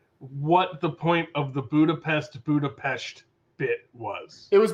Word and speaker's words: Budapest: just black widow going it's actually pronounced budapest she's the one that